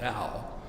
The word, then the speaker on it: Dao: and being to everything else is called the DAO today's scholars spell it Dao traditionally who's about ta o as